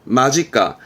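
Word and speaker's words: 間近: 예, 이것도 발음은 마지까.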